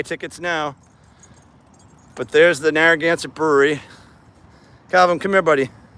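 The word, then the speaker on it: Narragansett: Narroance. Narroance. Narroance. Four syllables. Narroance.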